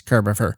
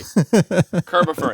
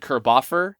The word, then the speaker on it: Kirbopher: Kerbifer. It's like Christopher except Kurbier. You got it. What else do you get from people? Uh most often I get Kerbafer.